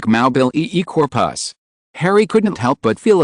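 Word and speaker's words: Mobilicorpus: The spell is, Mabulacorpus, floating zombie, pronounced like Maubil corpus.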